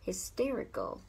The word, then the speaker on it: hysterical: Từ thứ ba là từ hysterical, nhớ là trọng âm rơi vào từ tear, hysterical, hysterical, mà từ này bằng